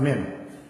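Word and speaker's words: מ: Then we have mem. Mem. This is mem, letter M. Mem. This is how it's pronounced, mem.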